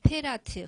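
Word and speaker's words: פרת: 这伯拉河希伯来语是 페라트 发音。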